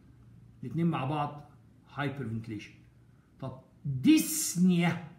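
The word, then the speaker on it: dyspnea: طب ديسنيا، وهنا البي سايلنت يا اولاد ما تنطقش، يعني ما نقولش ديسبينيا، مش عاوز العبط ده، ديسنيا كان ما فيش بي، ديس في اللغه يعني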